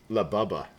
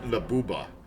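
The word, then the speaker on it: Labubu: Labubba. Now, that's going to be stuck in my head, but it's got to be pronounced labuba.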